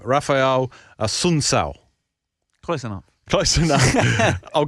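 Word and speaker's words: Assunção: Fight 5, we've got, you were teaching me how to say this guy's name, Rafael ASSUNCAO.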